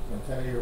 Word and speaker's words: MATE: Currently, I'm using Mate more than any Mateo, whichever way you want to pronounce it.